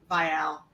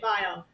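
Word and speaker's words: Vial: name you bow out his name is spelled v i a l so I can assure you it's not you have to say it file is it file or not vile.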